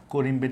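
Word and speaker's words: corymb: ক্যাট কিন আম্বেল আম্বেল করিমের ইংরেজি কেমন দেখো তোমরা অনেকেই জানো যে এম বি পাশাপাশি থাকলে এখানকার বিটা উচ্চারণ হয় না এটার আসল উচ্চারণ হলো করিম কিন্তু বইয়ে করিম লিখা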